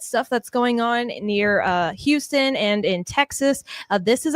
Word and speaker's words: Houston: And just for correct pronunciation, Keith, you grew up not far from Houston. Is it pronounced Houston or Houston? You say Houston, but you know how folks in Southeast Texas, they say Houston.